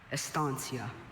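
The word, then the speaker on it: estancia: Estansia.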